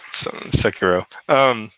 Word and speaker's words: Sekiro: Swiss, I need to hear about Sekiro, Shadows Die Twice. Did I pronounce that correctly? Sekiro. Close. Yeah, Sekiro.